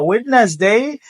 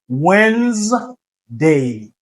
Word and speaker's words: Wednesday: OK pas witness day c'est Wednesday Wednesday ok c'est cours capable DA il pas prononcé OK c'est et puis